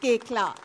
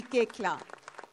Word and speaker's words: Koechlin: It's pronounced Koechla. Kalki Koechla.